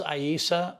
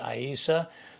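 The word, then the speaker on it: Aiisa: Hi, this is Aisa. I like to spell it A-I-I-S-A, Aisa.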